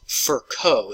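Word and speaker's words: Virchow: Then came along a guy by the name of Rudolph Furco is how you pronounce that.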